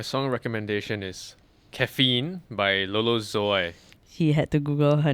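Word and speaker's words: Lolo Zouaï: recommendation is caffeine by lolo zoy she had to google her name and check out how to pronounce it before this episode i'm pretty sure it was closer to zoo so i i don't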